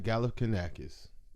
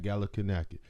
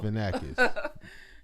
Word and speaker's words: Galifianakis: I did, Zach Galifianakis. Galifianakis. Bruh, stop. You a hater. Anyway. It don't matter. His last name weak as fuck. Long as hell. Finakis. Sorry. It's not Finakis. Fianakis then.